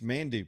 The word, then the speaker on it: Manduu: It's Mandu. Put 2 U's in there when you spell it.